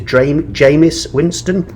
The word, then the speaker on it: Jameis Winston: think the pronunciation is Jameis Winston. It's got a funny E, or it's EI, it's Jameis.